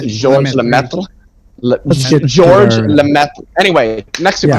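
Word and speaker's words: Georges Lemaître: It's French. It's like George Saint Pierre. You don't pronounce the S. It's Georges Lemaitre.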